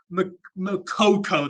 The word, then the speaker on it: Moukoko: talking about this man on screen you suffer makoko that's how you pronounce it it's just Coco um Newcastle have